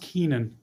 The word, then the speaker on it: Koenen: you are oh well my last name is pronounced keenan kane i was wondering